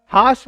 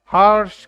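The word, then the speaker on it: harsh: Mark किया हुआ है, आर को साइलेंट रखना है, हाश, हाश बोलना है। अगर आप अमेरिकन एक्सेंट में बोलना चाहते हैं तो आपको आर प्रोनाउंस करना पड़ेगा, फिर हार्श करके बोलना पड़ेगा।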